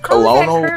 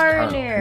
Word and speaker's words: colonel: Colono. They're like, "No, it's colonel."